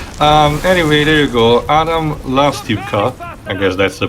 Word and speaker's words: Lastivka: Adam Lastivka, I guess that's the pronunciation. Apparently, it's pronounced Lastuka.